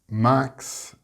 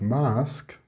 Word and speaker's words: mask: You may be saying axe instead of ask, max instead of mask, tax instead of task, or flax instead of flask, and dex or text instead of desk, etc. If you are getting these incorrect results, then you are pronouncing an X instead of the sk sound.